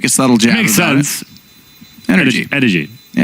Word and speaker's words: NRG: Which is actually pronounced energy. Is it really? Like the drink.